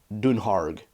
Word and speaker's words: Dunharg: dunhero places like that whereas the technical correct word would be dunharg which would be pronounced more like what we would think of in L ish that U is a u and the a is ah so most place names